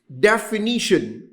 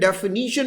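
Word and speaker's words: definition: है which we call डेफिनीशन। अब उस डेफिनीशन को मोस्टली स्टूडेंट डेफिनीशन नहीं डेफिनेशन बोलता है, और जब वो नेशन बोलता है तो लिखता भी नेशन है, तो स्पेलिंग तो गलत होंगे उसके।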